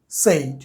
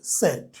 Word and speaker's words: said: আর SAID a sound আসে, সেড।